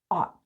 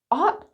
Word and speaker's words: ought: This word with an American accent, which is what I have, is ought. Ought like not.